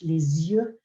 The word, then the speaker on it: les yeux: And they spoke about the liaison with les yeux, because that's quite a tricky one for a year 7 student.